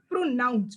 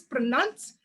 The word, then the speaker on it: pronounce: First, someone said pronounce, which is pronounce.